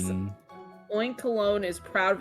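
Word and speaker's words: Oinkologne: Oinkol. It's Oinkalone, like cologne.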